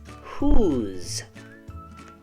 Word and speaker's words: whose: and do you remember why the S sounds like a z when an S comes between two vowels it will often sound like a z that's why